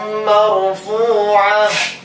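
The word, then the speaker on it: مرفوعة: Sururum marfu'ah, mar ra sukun sebelumnya ada fathah maka tasrim. Marfu'ah fu panjang. Marfu'ah waqaf menjadi sukun seperti itu.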